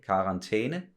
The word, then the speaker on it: karantæne: That's, you know, the pronunciation of that letter is E, karantæne.